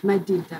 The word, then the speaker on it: Madida: Madida. Madida. You know why I love Madida? Mm? Everyone can pronounce it.